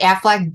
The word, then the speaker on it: Aflac: I really don't know the whole story behind the Aflac duck. Quack rhymes with Aflac. Quack, Aflac.